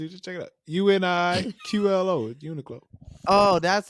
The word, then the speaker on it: Uniqlo: to explain to you just check it out Uniqlo Uniqlo oh that's how you say it yeah